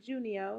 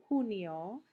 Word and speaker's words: junio: haven't listened to it it's not junio it's huno so again listen and